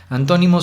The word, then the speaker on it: antónimo: Les pongo el ejemplo con esa palabra: antónimo. Así pueden distinguir fácilmente cómo en to es como si subiera, ¿no?